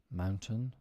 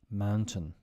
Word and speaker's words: mountain: right before we end words with a t that is could often not pronounced button Mountain certain curtain Fountain important we typically don't pronounce the T in these words instead we cut the